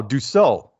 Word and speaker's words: Dussault: is that Doo is that like sew like you're sewing like a you know some clothes oh do so okay perfect and you